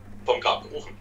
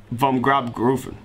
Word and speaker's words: Vom Grab Gerufen: Vom Grab Gerufen. Vom Grab Gerufen.